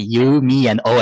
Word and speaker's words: Yumio: I was lucky that my name is pretty easy because you you just say you me and O and that's it so